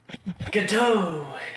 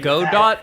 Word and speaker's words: Godot: Was it Godot? Godot. Is that how you say it? It's Godot. Godot. It's Godot. How? Godot is. It's not Godot. It's Godot. No, it's Godot. It's like the guy.